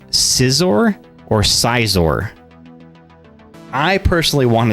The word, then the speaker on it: Scizor: pronounce it they say scissor which I guess makes sense because that scissors are a real thing scissor me timbers Clive